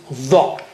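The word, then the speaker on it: ظ: And the other one is dha with the tongue tip touching there near the edge of the upper teeth.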